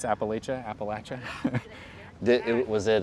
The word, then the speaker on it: Appalachia: it's like southeast ohio um kind of in appalachia which i learned is the correct way to pronounce appalachia appalachia did it was it a high school